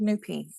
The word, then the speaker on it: Nupi: name um mean so the way you pronounce my first name is but if anybody says that it's kind of like or the anglicized version is nupa but I've always been called newpy all my close friends